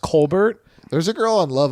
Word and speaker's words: Colbert: It's actually pronounced Colbert.